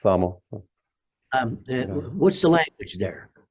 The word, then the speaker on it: Samo: Usually people say Samo, but it's Samo.